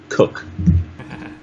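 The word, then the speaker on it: Koch: plays here against Matt cook down on YouTube you know search any name or any word the pronunciation on here now it's cook yeah interesting okay Matt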